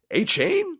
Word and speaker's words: Achane: I don't care if people are calling my name wrong. It's cool. It's Achane, yeah, Achane.